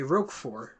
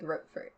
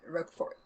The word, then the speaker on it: Roquefort: But it's French. They don't pronounce the T at the end. It's just got to be Roquefort.